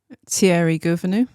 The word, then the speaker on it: Thierry Gouvenou: Thierry Gouvenou.